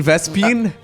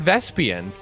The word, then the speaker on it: vespene: term for gas again I vespi you mean vespene no oh no I swear I heard vests peon I will admit in my defense apparently Swan